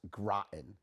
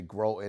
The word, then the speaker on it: Groton: that's where I got mine it says it's pronounced Groton uh you know people say grow in in all these different butcher the name of